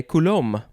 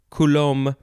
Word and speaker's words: coulomb: go second form of coulomb uh yeah coulomb or it could also be coulombic coulomb you can you can add the b you can take out the b coulombic coulombic adjective